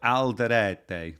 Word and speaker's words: Alderete: It's more like Alderete. That's how you say it, mate.